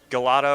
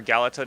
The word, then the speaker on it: Galata: to uh Galata District Galata or galato District both are actually uh correct pronunciations for the name uh we'll probably do